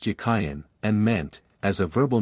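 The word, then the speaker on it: Jachin: of the two names the word jachen in Hebrew is Hebrew it was probably pronounced yakayan and meant as a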